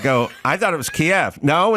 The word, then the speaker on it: Kiev: And she'd go, it's pronounced Kiev. And I'd go, I thought it was Kiev.